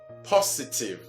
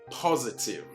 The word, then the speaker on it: positive: The problem arises when it is this, where you usually hear it pronounced positive, which is absolutely wrong. It is rather positive, okay? Positive, positive. And this is simply because of the effect of the preceding vowel or on the sound S to change it into